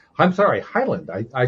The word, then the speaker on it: Heyland: guest joining us today his name is Rick Halen I'm sorry Highland I I said I was going to pronounce the name correctly and what did I